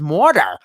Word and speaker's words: Mordor: know the pronunciation of Mordor if that's accurate but in his Jimmy Page is very English accent he says morta similar to murder and I just always